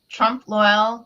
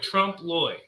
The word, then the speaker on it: trompe l'oeil: So now we have Trompe l'oeil, which I'm saying wrong. I know I'm always saying wrong. Loy. I'm sorry. It's like rhymes with Roy. Trompe l'oeil. Oh, it's Trompe l'oeil.